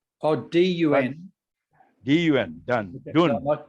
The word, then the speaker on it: Dun: Well, you see, D-U-N, Dun is son name. Dun, D-U-N. Yeah. That is a Burmese name, a Korean name. Oh, D-U-N.